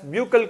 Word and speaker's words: buccal: mouth or buccal cavity some people are pronouncing it as buccal cavity buccal some people pronouncing it as buccal cavity somebody pronouncing it as buckle cavity both are same only children first starts from